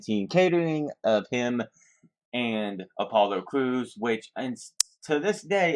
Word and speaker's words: Apollo Crews: joke on TV that everyone was mispronouncing him as Apollo Creed instead of Apollo Crews.